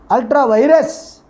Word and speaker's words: ultra vires: Ultra vires. Ultra vires. The pronunciation is ultra vires.